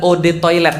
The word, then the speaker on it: eau de toilette: mau sombong banget eau de toilette artinya adalah Ode toilet bacanya e-awb atau odd saatnya air toilet ya toilet